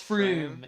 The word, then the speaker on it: Frome: I'm pretty Oh, sure it's Froome. It's Froome, apparently, yeah, and the received pronunciation.